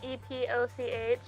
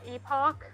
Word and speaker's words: epoch: John Sims pronounced uh e p o c h uh Epoch as opposed to what that's it's pronounced this week because I'm pretty sure it's pronounced epic but I think that